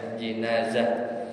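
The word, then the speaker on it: جنازة: Kadang bi kasr jim, jadi bacanya jinazah. Itu juga sama, ya, dalam bahasa Arab, bisa 2.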